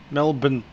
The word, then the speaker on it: Melbourne: I just wrote it like we pronounce it, I guess. Melbourne. Should be B-I-N. M-A-L-B-I-N.